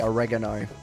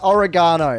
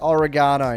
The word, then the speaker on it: oregano: I know you Americans say oregano. That's foul, let me tell you. That's foul. It's It's oregano. Okay, I'm going to start a civil war in the chat. It is oregano, not oregano.